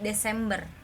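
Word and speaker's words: Dezember: Ingat ya, ini Z jadi S dibacanya. Jadi Desember.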